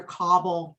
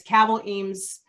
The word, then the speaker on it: Cabell Eames: name is cabell eames i hear cobble a lot like a cobble shoe but it's kavel eames rhymes with rabble which uh gravel rouser